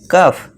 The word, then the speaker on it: cough: फिर last example है हमारा COUGH, यानी कि इसे क्या पढ़ेंगे हम, कफ।